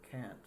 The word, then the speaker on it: Kant: I don't know if it's Kant or Kant. It's probably Kant, but I've only heard British people talk about it. So they pronounce that that sound as Kant, even if it is pronounced Kant. Like I can't do something.